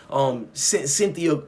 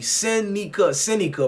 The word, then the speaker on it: Seneca: The cops were the ones who brought these niggas to Cynthia Price. Let me say his name properly. Seneca Price.